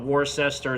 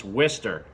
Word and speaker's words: Worcester: Mass and yes it's pronounced twister even though it's spelled wor c est ER it's not war sester it's not Worchester it's not wood sir it's Wistar so this is the